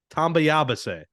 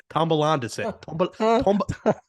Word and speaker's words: tambaleándose: Tambayabase. No, there's no yaba. Say it slowly. Syllable by syllable. Baleándose. Baleándose. Bond? Like James Bond? Ba, like a sheep makes noise.